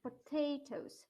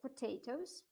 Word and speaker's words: potatoes: Potato на первый. No, the second, potatoes. Second, второй, potatoes.